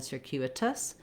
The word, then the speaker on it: circuitous: I really actually should write this more as a D, because in circuitous we use that flap because the letter T is between two unstressed syllables, and it goes by quickly. We have our voice on, just like we do D's in the middle of words. So rather than circuitous, circuitous in American English.